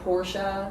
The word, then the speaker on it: Porsche: we found out that like it's supposed to be porsha you know and then like everyone started changing to porsche yeah i'm curious about